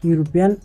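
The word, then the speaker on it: European: তারপর প্রশ্ন, হি is dash ইউরোপিয়ান, এ ইউরোপিয়ান। তারপর ইউরোপিয়ান শব্দের শুরুতে ই বাওয়েল থাকলেও এর উচ্চারণ ইউ এর মতো হয়, এর আর্টিকলে এন অবশ্যই এ বসবে।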